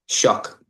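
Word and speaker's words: Shough: Shuck with a K. Yeah, a K at the end.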